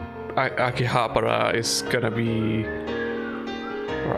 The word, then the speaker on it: Akihabara: I'm just thinking like Akihabara is gonna be, or Akiba, depending on how you say it. Akiba is just a shortening of Akihabara.